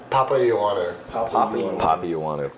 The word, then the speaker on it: Papaioannou: Papaioannou. Papaioannou.